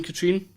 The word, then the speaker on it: Katrine: say my name correctly it's katrine's probably because you're scottish it's a scottish name it's like the lake right there's a lake there named that that's where my mother